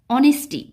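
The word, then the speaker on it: honesty: of mister Basu দেখো অনেস্টি এখানে এটা মনে করবে না যে অনেস্টি এইচ এর উচ্চারণটা অর মতো হচ্ছে ভাওয়েল সাউন্ড হচ্ছে তাই এখানে এন বসবে না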